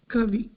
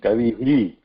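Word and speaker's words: कविः: So when we want to pronounce that, we have to pronounce Kavi. Not like Kavihi. Kavihi. Oh. This is, if you notice, or if you put your hand around your front neck, like when you are pronouncing he, it has to have that vibratory sound, Kavihi. But when you pronounce this Kavi, then Visarga has to pronounce, that has to be muted.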